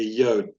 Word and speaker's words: Yod: very much like a yod. Yod is pronounced like the Y in yard.